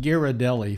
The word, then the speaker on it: Ghirardelli: that that's Pleasant yeah by the way that's pronounced Ghirardelli folks just in case you don't know I